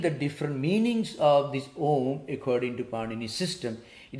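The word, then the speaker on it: ॐ: now uh when we the first of our ah is pronounced with mouth open who is uh pronounced mouth half closed ma is pronounced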